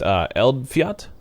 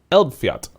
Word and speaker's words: Eldfjall: Oh, I meant to say the DLC name is actually pronounced Eldfjall. Eldfjall. Eldfjall. Eldfjall. Oh, there's like a little tiny L at the end.